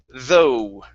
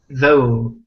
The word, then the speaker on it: though: word though okay so the GH at the end does not make a sound so instead of th it's though though okay very nice and